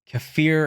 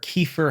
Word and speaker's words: kefir: fermented for a while greek yogurt's good uh kefir or kefir however you guys want to pronounce it that's also very good if you